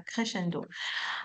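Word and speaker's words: crescendo: D'accord, c'est un mot italien. Oui, on le prononce comme ça. Crchendo.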